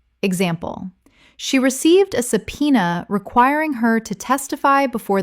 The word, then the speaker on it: subpoena: Subpoena. Common mispronunciation. Subpoena. Correct pronunciation. Subpoena. 3 syllables with the B completely silent and the stress on the second. Example. She received a subpoena requiring her to testify